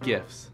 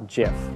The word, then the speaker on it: GIF: today we're talking about gifts actually it's pronounced jiff you mean gift no